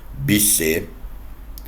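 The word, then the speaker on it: Bossuet: Por fim, eu quero que você saiba de um cara chamado Jacques Bousset. O Jacques Bousset, ou se você quiser falar com a pronúncia mais francesa, Bisset, ele dizia que o rei governa porque Deus quer.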